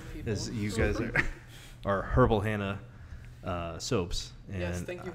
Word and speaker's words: Herbal Hannah: it correctly right yeah you got to pronounce H's because if not people are like herbal Anna and herbal and yeah that's not my name so purple Hannah Wellness